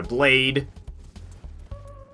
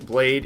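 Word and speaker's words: Blaidd: is did some research blade is Welsh for Wolf and they do indeed pronounce d d as t h a i as I yeah but like got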